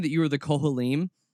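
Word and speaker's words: כהנים: ahead and just apologize in advance if I'm pronouncing this wrong. You were saying that you were the Kohanim? Kohanim.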